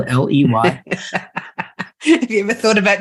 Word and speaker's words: Ley: And even though my last name sounds like getting laid, it's spelled Ley.